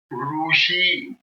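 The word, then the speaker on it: ऋषि: why they are pronouncing ruu is not a pronunciation in samr so it is rutu and the extended one is rushi rushi Saint huh you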